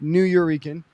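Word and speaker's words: Nuyorican: Um he is the host um of the legendary New Eurekan and that is a combination of New Yorker and Puerto Rican. Um it is pronounced New Euran.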